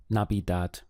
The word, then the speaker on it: Navidad: way let's get started the word for Christmas in Spanish is Nabi dad we have three syllables na B dad not be that the